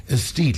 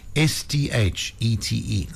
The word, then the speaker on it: Aesthete: Aesthete, let me spell it for you. AESTHETE, like aesthetic, but this is Aesthete Creative Agencies.